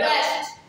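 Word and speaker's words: wrest: रेस्ट रेस्ट रेस्ट डब्ल्यू आर ई एस टी आर ई एस टी। अब आप खुद देखिए आप खुद क्या कह रही है, रेस्ट, क्योंकि डब्ल्यू इज साइलेंट।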